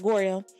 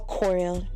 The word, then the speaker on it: Goryeo: back then it was called Goryeo or Koryo. Depends on how you pronounce it. I'm going to pronounce it Goryeo because it's easier for some reason.